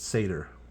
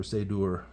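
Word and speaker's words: seiðr: And the EI is pronounced A like in pale, so it's Seder. Or Seidur. The U is like the U in moon, so yeah, the Seidur.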